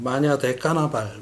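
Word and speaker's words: Manhã de Carnaval: 포르투갈어로는 마야지 까르나바우라고 발음을 하고 미국 사람들은 뭐 마냐데 까나발 뭐 이렇게 발음한다고 하는데 카니발의 아침이죠.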